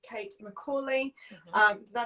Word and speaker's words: Kate McCauley: So, it's Kate McCauley. Um, did I pronounce that right? Yes, you got it. Kate McCauley.